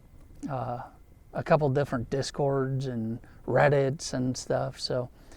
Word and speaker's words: Discord: Um I was pronouncing it wrong in my last video. I said discourse, but uh it's Discord.